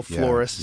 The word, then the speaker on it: floresiensis: Yeah, the Homo floresiensis. Yeah. Floresiensis, I think. Yeah. That's how you say it.